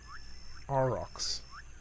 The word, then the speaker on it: aurochs: Tell me, how is it pronounced? not to be confused with Bos taurus, European bison, or oryx. Aurochs.